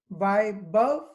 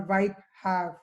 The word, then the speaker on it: Vaibhav: and the pronunciation of the of my first name goes like either why above or white have this was the best